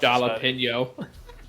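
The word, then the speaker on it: jalapeño: My mouth Jalapeno. I can't pronounce it. My mouth hurts. Jalapeno. Yeah, that one. It's Spanish. The J doesn't sound like a J.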